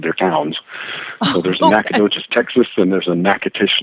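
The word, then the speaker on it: Nacogdoches: at your bio here and how do you pronounce that nacha DUIs at Texas am I saying it wrong yes yes horribly it's it's pronounced nacadas and it goes back to an old uh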